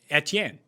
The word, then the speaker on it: Etienne: old old steve no i just pulled it up travis etm product uh pronunciation e e t n so not etntn etienne etcher is that what you were